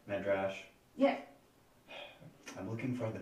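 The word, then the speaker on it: Medrash: yeah he's he's uh would you say his name was meddrash m-e-d-r-a-s-h and last name is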